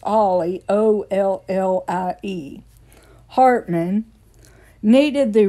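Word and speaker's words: Ally: Mountain Dew started because Knoxville brothers Barney and Ollie, which is spelled A-L-L-Y, like Allie, but it's pronounced Ollie, O-L-L-I-E.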